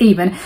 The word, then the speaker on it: Avon: like ion I don't know how I was pronouncing it but it's aan and I love the fact that yes it